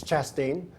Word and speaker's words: Chastain: Somebody told me I was saying his name wrong all this time. It's Chastain.